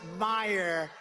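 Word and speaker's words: Meijer: E-I-J-E-R, but they pronounce it Meyer.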